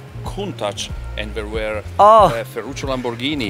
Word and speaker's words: Countach: Oh, Countach.